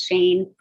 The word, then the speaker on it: Schoen: And just as a note, it's Shane, even though it's spelled Schoen, it's like, if you can think of Danke Shane, it's the Yiddish pronunciation of Shane.